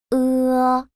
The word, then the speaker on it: 呃: The simple final 呃， I will teach you how to say this sound. First, round your lips and say the O in more. And at the same time, spread your lips apart as if you're smiling.